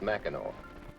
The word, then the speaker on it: Mackinac: the place that spelled Mac and act and pronounced Mackinac why is that I've wondered about that next